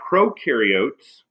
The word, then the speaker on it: prokaryotes: cell types there are prokaryotes remember pro rhymes with no these are unicellular organisms